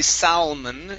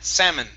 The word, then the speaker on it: salmon: chase of kachitsam okay now this word here the l is silent we don't say salman it's sa salmon okay very nice okay